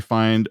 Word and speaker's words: fin: Well, it's in French, it's fin.